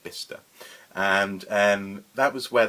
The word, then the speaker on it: Bicester: spelt by sister but apparently it's pronounced bista and and that was